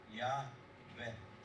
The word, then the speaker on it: Yahweh: So if the second syllable is short, what is the normal short vowel? An e. So Yahweh.